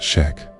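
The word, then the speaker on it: Chöd: The Chad ritual pronounced shack.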